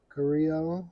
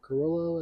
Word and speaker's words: Carrillo: It's the EP Carrillo or Carrillo, as some pronounce it.